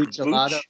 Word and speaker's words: Buccellato: It's Buccellato. So it's like Buccellato? Okay. Bucce, and then a lot o. Buccellato.